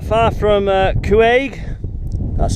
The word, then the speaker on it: Cuaig: Look on the map, I'm not far from Cuaig.